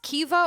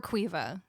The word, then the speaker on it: Saoirse: It's pronounced Kiva or Quiva.